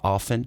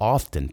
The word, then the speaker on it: often: Perceba também essa pronúncia de often. Várias vezes você escuta as pessoas não pronunciando esse t, often. Tá certo falar com t também, tá? Tem gente que fala often, principalmente na América do Norte, e tem gente que fala often, principalmente no inglês britânico.